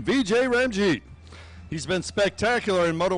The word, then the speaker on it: Vijay Ramjeet: Thank you for the pronunciation, Vijay Ramjeet.